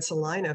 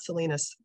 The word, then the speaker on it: Salina: in Kansas or in Salina for about 2.5 days. So yeah. I should definitely look her up. Yeah. It's funny. And you said it right, Salina, not Salinas.